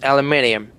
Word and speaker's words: aluminium: And in the UK it's aluminium. Aluminium like French. Mhm. Aluminium. Aluminium. This additional I between N and U changes the pronunciation and spelling.